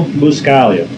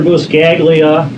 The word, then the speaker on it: Buscaglia: experience with bleach and Leonardo boo Scalia usually mispronounce is dr. buscaglia or even dr. boxcar are called a love